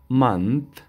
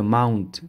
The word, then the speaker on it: month: Month ماه. ایره mount تلفظ نکنین، اشتباس.